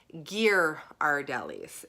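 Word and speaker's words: Ghirardelli: right on the wall is the pronunciation of their chocolate company and it is gear our delis so now I have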